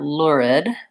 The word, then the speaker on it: lurid: to honestly lurid so first I have the L sound but I go right into the lor lor so it's kind of a short u sound before my Wow so if I think about it as being kind of lured or but then this all goes very quickly lure lurid so how I would break